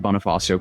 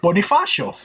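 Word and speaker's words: Bonifacio: facing multiple criminal complaints following an incident at Bonafasio Global City that drew wides okay you you pronounced that right Bonifasio spread public outrage authorities immediately launched an investigation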